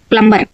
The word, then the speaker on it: plumber: is right answer next find the silent letter in the world in the word plumber so B is the